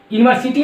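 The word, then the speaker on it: university: यूनिवर्सिटी में पहला letter क्या है? यू है, लेकिन उच्चारण करेंगे यू। फंस गया मतलब आप भी फंस गए। ये फंस गया मतलब आप भी फंस गए। और फंस क्या गए कि दिख रहा है वोवेल लेकिन है कॉन्सोनेंट।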